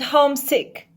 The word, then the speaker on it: homesick: pronunciation of these words the home is a loud word for example hometown and homesick so you pronounce home in these words louder than town and sick the main word in